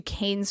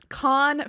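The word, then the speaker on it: Caen: friend romy ghibli and they took off to keynes france in 1938 con con i know it's no s no it's pronounced con france in 1938 and the two of them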